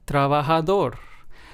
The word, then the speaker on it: trabajador: In these words, we stress español, estoy, feliz, and trabajador. So, as you can hear, in all four of these words, we stressed the very last syllable because, of course,